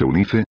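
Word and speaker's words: Eunice: pronúncialo como quieras Selina Nosotros le decimos e unice con el acento en la i y pronunciando la última e e c déjame servirte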